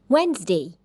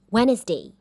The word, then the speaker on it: Wednesday: So I've made a list of commonly mispronounced words, and some of them are Wednesday, not Wednesday. Southern, not southern.